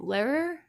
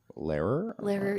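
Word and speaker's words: Lehrer: old footage of um Tom Larer. Ler. Yeah. L E H R E R. I can never pronounce it.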